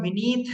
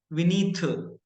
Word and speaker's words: विनीत: जैसे अगर मेरा नाम विनीत है, तो जनरली साउथ में टी के साथ एच लगाते हैं, तो दे विल स्पीक विनीत, थ आएगा।